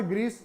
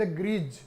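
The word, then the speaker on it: grease: इट्स नॉट ग्रीस, इज द ग्रीज।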